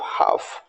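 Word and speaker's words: half: ओ एल के Fock H ए एल एफ हाफ पी ए एल M palm और एस एल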